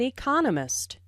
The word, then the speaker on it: economist: Dr Smith is an economist notice the stress on Economist this content word has new information so it is emphasized there are four syllables in Economist with the stress on the second syllable economist he just finished writing